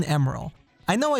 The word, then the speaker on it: Emerl: let's talk name pronunciation i had been referring to emeril as emerald all my life because those are the letters i see in the name m er o e-m-e-r-l and that's definitely what's said in the japanese version as well emeril is the pronunciation that is used in the tms produced version the original japanese version